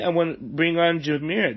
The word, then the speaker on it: Jazmiera: Paul but today I want to bring on Jumeirah I pronounced that right right yeah jazz yeah it's